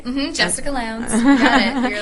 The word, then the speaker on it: Jessica Lowndes: Jessica Lowndes. You got it. You're like one of the only people who pronounced it right.